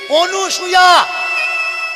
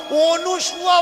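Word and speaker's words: অনসূয়া: সতী পরীক্ষা নেওয়ার জন্যে, এরা নামটাও উচ্চারণ করে ভুল। অনুসূয়া বলছে, অনুসূয়া, অনুসূয়া নয়, অকার দন্তের ন, অন সুয়া।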